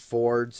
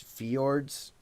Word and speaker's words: Fjords: I said that the band that we talked about last week, Dustin, I said it was pronounced Fords. It's Fjords. Oh. It's the FJ.